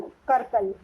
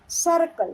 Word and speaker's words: circle: सर्कल, not curtain, कर्कल. Circle, circle.